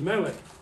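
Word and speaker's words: מלך: That's the L sound. And the word is Melech.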